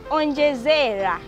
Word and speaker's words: onjezera: Then our next word is onjezera. Onjezera. Onjezera is spelled as O N G E Z A.